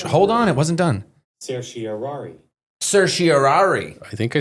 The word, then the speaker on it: certiorari: Supreme Court, and they granted certiorari and actually decided this case.